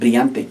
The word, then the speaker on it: brillante: You have the double L, remember, it makes the Y sound. Brillante.